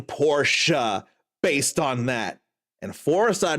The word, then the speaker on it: Porsche: It's supposed to be pronounced Porsche. I keep saying Porsche based on that.